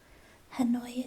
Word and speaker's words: Hanoi: Hanoi is spelled H-A-N-O.